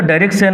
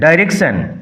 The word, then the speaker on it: direction: Cassio had the direction of the guard that night with a change from Othello to restrain the soldiers from drinking excessively. Direction উচ্চারণ লক্ষ্য করো, নট ডিরেকশন। ডাইরেকশন charge, control, দায়িত্ব, তত্ত্বাবধান এই অর্থে।